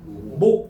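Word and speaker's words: 몫: 여러분들 편하게 발음해 봐. 목 이렇게 하잖아. 우리가 목 못이라 그래. 목이라 그래. 목 이렇게 하잖아. 그러니까 당연히 시옷이 탈락했지.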